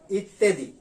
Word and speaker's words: ইত্যাদি: আসলে মূলত শব্দটা কিন্তু ইত্যাদি না, আমরা লিখতে সময় কিন্তু লিখি এইভাবে, এই যে ইত্যাদি, আসলে উচ্চারণটা এ। তাহলে কি দাঁড়াইলো? বলতে হবে ইত্যাদি, ইত্যাদি, ইত্যাদি।